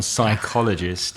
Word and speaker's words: psychologist: a five-point word that one psychologist yeah silent P its design MP at the beginning what about the one